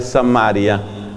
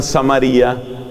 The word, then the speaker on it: Samaria: a una mujer pecadora de samaria otros pronuncian samaría esa se llama la